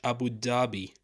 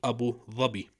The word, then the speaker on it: Abu Dhabi: Arab Emirates is called Abu zabi I know it's pronounced in English Abu Dhabi but originally it's called Abu zabi now there are so